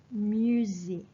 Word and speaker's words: musée: As we all know, if it is the museum, you should say le musée. Le musée. Z. Okay, not say. So you pronounce like Z.